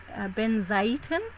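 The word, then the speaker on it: Benzaiten: energy and excuse me i have to pronounce her name is ben zayton i believe it is prince pronounced but it's spelt b-e-n-z-a-i-t-e-n and she's in the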